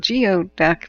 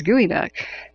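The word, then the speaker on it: geoduck: oh oh yeah so it's spelled geod duck but it's gooey duck and they're epic mollusks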